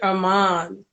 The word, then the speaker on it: Armande: the honors please mr um am i pronouncing your last name properly correctly yes you are okay our mom mr armand the love poet bless us please with a